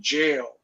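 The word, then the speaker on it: Jale: was going for the jail oh no wonder it's evil it rhymes with an spelled very similar to kale kale exactly yeah did you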